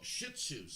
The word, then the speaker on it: Shih Tzus: shitzus say hi shits would say hi Oh Shih Tzus that's how you say it yes why do